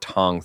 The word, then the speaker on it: Thong: His name was Thong, pronounced Tong Thong.